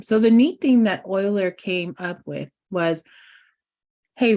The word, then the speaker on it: Euler: his name is Euler I want to call him Euler because that's what it feels like I should say but other mathematicians who have pronounced his name they call them Euler so I'm going to go with Euler Euler proposed what that